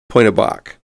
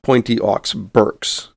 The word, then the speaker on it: Pointe Aux Barques: at point a bach the locality is properly pronounced point of bach and not pointy aux berks and it is located near the tip of